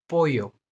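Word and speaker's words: pollo: Double L को य, ज और श बोला जाता है, लेकिन अभी इसको य प्रोनाउंस करना है हमको, यूविया, यूविया। यामार, यामार, यामार। पोयो, पोयो, पोयो।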